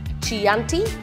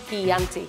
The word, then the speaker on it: Chianti: to say them correctly it's not Chianti it's Chianti it's not Riesling it's Riesling